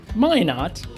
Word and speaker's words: Minot: name Minot is pronounced Minot rhymes with why not why not my not